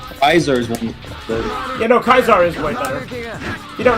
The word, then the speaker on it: Caesar: Yeah, no, Kaisar is way better. You don't know, Kaisar is actually the proper pronunciation of Caesar.